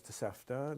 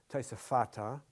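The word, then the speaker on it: תוספתא: The tosefta, there's actually no such word as tosefta. The actual word is tosefata. Tosefta is yeshiva talk. It's just a thing in yeshiva to deliberately mispronounce Hebrew by taking the Aramaic structure, the Aramaic linguistic approach to Hebrew.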